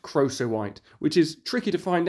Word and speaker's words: crocoite: it for years very embarrassing it is however pronounced crossowite which is tricky to find out because lots of people pronounce it various different ways I found croquite Croco white but crossowite appears to be the actual way